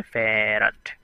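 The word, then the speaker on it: farad: বেশি সেটা হচ্ছে ফ্যারাড বাংলাতে উচ্চারণ হচ্ছে ফ্যারাড যদিও ফ্যারাড হচ্ছে একটা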